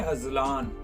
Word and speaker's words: Azlan: नाम है अजलान, जिसका इंग्लिश स्पेलिंग है AZLAN, अजलान। जिन्स है लड़का, जुबान है उर्दू, मजहब है मुस्लिम। अजलान जिसका मैनी है शेर और बबर शेर।